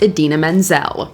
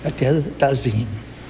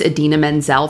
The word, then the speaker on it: Idina Menzel: John Travolta mispronounces Idina Menzel. Please welcome the wickedly talented one and only Adele Dazeem.